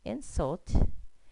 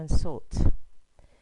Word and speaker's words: insult: the first pronunciation here if that word is a noun it would be insult and if it's in the action verb it would be an insult now the next one